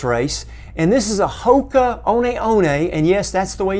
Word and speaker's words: Hoka One: And this is a Hoka One, and yes, that's the way you pronounce it, Hoka One Rincon.